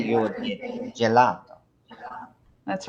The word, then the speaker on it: gelato: So if you wanted J, you would get gelato. That's right. So why is that? Why does letter G sound like a J so often in Italian?